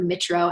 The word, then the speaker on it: Mitro: coaches like Melanie Melanie Metro or mitro actually I think it's mitro I almost said her name wrong she's they're good okay